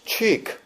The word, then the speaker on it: cheek: 근데 이 주님께서 언제나 이 칙, 발음을 갖다 CHEK, 이걸 칙이라고 하면 안 된다 그러대. cheek. 예, cheek.